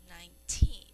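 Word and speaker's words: nineteen: So, when we say 19, this emphasis or the accent is on the teen. So we say 19.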